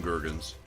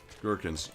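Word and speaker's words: gherkin: I call them gurgens. I know that's not how you pronounce it, but they're always they're they will always be gurgens to me.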